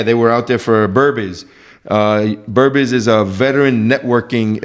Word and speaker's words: Burbiz: Yeah, they were out there for Burbiz.